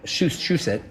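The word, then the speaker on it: Shusett: bannon and i think ron shush that's the way you pronounce this she said shusit wrote alien to get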